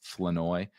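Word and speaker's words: Flournoy: right it's it's spelled floor oroi but it's pronounced floi which is th still throws me off every single time uh but Ryan floi as rookie sixth round pick wide receiver out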